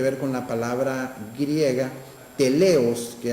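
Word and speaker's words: τέλειος: con la palabra griega teleos, que algunos la pronuncian teleio, pero es teleo, que se encuentra en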